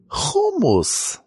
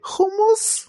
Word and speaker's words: hummus: Hummus. Are you one of those guys that pronounces it hummus? That's how we say it in Israel.